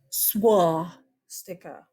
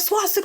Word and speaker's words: swastika: Okay, first of all, it is not a, look at my lips, swastika. Yeah, it's spelled with a W. German. It's not how it's said.